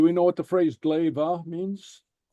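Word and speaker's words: glè: Glaive. Okay, and what this means is, it's pronounced glaive.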